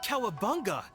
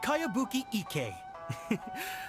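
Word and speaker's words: Kayabuki Ikku: Who's this Kawabunga? It's pronounced Kayabuki Ike.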